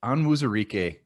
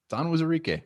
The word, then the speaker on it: Onwuzurike: Why did you pronounce the O wrong the first time? Onwuzurike. It's Onwuzurike.